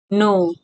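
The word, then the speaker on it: know: एन के think जानो नो के एन ओ डब्ल्यू नो इस्मा प के साइलेंट हु्छ तले के एन ओ डब्ल्यू नो नो को अर्थ जाननो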